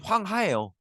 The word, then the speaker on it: 황하: 이런 거 물어보는데 어 이게 한자를 우리 식으로 읽으면 황 하예요 그리고 요거를 조금 중국어 발음에 가깝게 읽으면 황 허라 보시면 되는데 뭐여 틀리지 않아요 어떻게